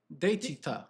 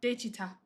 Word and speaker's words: 대취타: Daechwita. Daechwita. Daechwita.